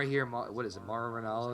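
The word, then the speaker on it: Mauro Ranallo: hear what is it Maro Ronaldo is how his name is pronounced yeah yeah I I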